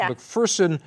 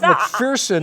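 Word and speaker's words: McPherson: that I corrected you that it's mcferson not mcferson yeah I didn't know if you were mispronounced no because there's no fear in mcferson as they tell you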